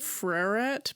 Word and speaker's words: Freret: So I think it's pronounced Freret, but people say it fast and it turns into Is it Ferret? Like French? Well, probably at some point it was, but no one says it like that, you know?